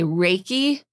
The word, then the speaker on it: Reiki: raiki what is it what is it okay raiki is Reay is spiritually guided and key means